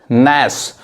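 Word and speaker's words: gnash: यहां देखिए इसको क्या पढ़ेंगे, नैस मतलब दांत पीसना।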